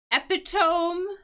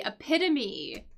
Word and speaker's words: epitome: this word is this which looks like it's pronounced epitome maybe epitome but it is not pronounced that way this word this word is actually epitome AIT so yeah so he was the epitome